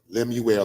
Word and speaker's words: Lemuel: Lemuel, like Emmanuel, but it's Lemuel Plummer.